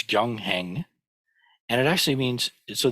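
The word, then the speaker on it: 경행: In Sino-Korean, it's gyongheng, and it actually means, so this is the character for sutra, which we've already covered, and practice.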